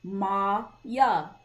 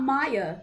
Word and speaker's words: Maya: what it's saying but if you pronounce it verbally you say ma yeah ma yeah right my name is not Maya a lot of people